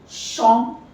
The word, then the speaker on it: champ: Champ, field. Now, as I said that the last alphabet is not pronounced except CFLR.